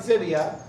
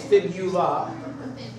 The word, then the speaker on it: fibula: next one behind it doesn't rhyme with it so people always want to say tibia and fibia it's not though it's fibula and then the kneecap